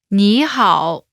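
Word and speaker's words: 你好: but translates as hello nihal pronunciation note when there are two third tones in a row the first one changes to the second tone listen to the pronunciation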